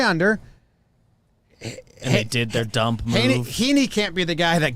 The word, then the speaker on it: Heaney: changes a man stop baseball reference pronunciation is heaney thank you coming from